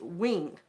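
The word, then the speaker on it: Nguyen: Vietnamese different spelling because the word ng u ye n is pronounced wing so I'm sure if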